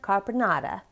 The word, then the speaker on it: caponata: friends is lemony eggplant carbonata and i am saying it totally wrong there's an emphasis on the last syllable but i can only